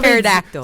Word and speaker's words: pterodactyl: The E is silent. Like the P in pterodactyl.